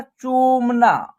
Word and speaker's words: चूमना: देखिए चौ में क्या है? बड़ी ऊ की मात्रा है, तो इसका उच्चारण होगा चू। उसके बाद म और न में आ की मात्रा, तो एक साथ उच्चारण होगा इसका चूमना।